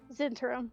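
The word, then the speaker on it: Zhentarim: How the fuck do you pronounce Zentarum? The Zentarim? Zentarum? Is that how you pronounce it? Yeah, that's how they say it in Baldur's Gate, so that's how I'm saying it. Zentarum.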